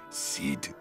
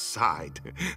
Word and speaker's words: Saeed: do you say it seed saeed it's pronounced side like the side of a barn door welcome to superhero high